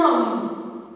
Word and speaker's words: homme: Elle peut être au début, donc un homme, un hôtel, regardez, H, le H, c'est un H muet, il ne se prononce pas. On dit un homme, pas un homme.